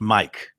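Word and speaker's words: Maik: um anyway uh Mike it's spelled m AI K but pronounced Mike and he believe he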